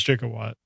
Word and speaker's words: Gigawatt: Is it Gigawatt or Jigawatt? I'm going to ask that right away. Back to the Future canon is Gigawatt.